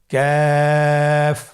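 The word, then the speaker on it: ك: কাফের মাখরাজ হলো জিহ্বার গোড়া থেকে একটু আগে বাড়িয়ে তার বরাবর উপরে তালের সঙ্গে লাগিয়ে উচ্চারিত হয়। তাহলে আমরা কফ যেখান থেকে উচ্চারণ করেছি একটু আগে বাড়িয়ে সেখান থেকে আমরা তার বরাবর উপরে তালের সঙ্গে লাগিয়ে হরফটি উচ্চারণ করব।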